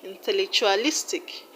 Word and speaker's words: intellectualistic: Intellectualistic. Now you're going to stress the second syllable from the end of the word, and the second syllable from the end of the word is lis. Intellectualistic.